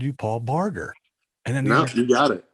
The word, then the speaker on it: Barger: your name it's paul barger barger yeah i pronounce it differently our family pronounces it differently than the sunny bar juror that most people are familiar with okay cool so good